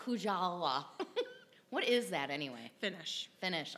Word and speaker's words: Kujala: It's just like it sounds. K-U-J. Yeah, just like it sounds. A-L-A, yeah. Mm-hmm. Yeah. Kujala. Not Kujala.